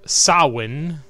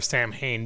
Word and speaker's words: Samhain: some people call it personally I prefer Samhain because that's the way it's spelled you friggin Irish and/or Scottish people did see it's not saw one if you have an eminent H in it that just doesn't make any sense anyway I figured that